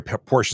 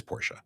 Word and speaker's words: Porsche: uh Chase Cry by saying Porsche sorry portions instead of Porsche it is Porsche oh well and I